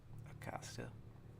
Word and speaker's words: acasă: Acasă.